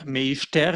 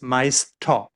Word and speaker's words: Meister: It's not Meister, it's Meister. And you see the ER at the end is pronounced differently than it's written.